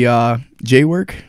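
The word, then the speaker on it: JWWWOORKK: It would be JWork, but it's spelled very, very weird.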